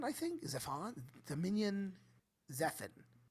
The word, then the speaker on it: Zephon: Yeah, this is Dominion Zephan, I think. Zephon? Dominion Zephan. I would say Zephon by my pronunciation.